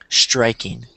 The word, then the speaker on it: striking: with the word Spain you said EST striking it was very subtle but I heard it so yeah just like that there's no e just say striking striking striking what's what do